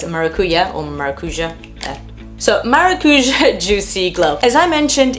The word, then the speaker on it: maracujá: It is the Tarte Maracuja. I'm not really sure, I've heard it pronounced several ways. In Portuguese it's maracuja, which translates as passion fruit.